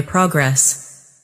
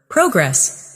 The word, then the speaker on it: progress: Repeat these pairs after me and notice which syllable is stronger. Comfortable, not comfortable. Decert, noun, versus decert, verb. Progress, noun, versus progress, verb.